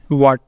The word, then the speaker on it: what: है first rule है एच is silent after C एंड दूसरा क्या है य चीज साइलेंट आफ्टर डब्लू डब्लू और सी के बाद होते हैं यह साइलेंट पहले है हम देख लेते हैं डब्लू वाला जैसे यहां पे है व्हाट वई वाइट व्हेन वेयर इनके अंदर है डब्लू के बाद ए आ रहा है तो ए है साइलेंट एच यहां पर रहेगा साइलेंट एच की आवाज हम नहीं प्रोनाउंस करेंगे इस का साउंड हम